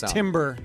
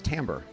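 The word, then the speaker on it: timbre: You learn You use the word correctly, but it's tamber, but it's spelled with an I.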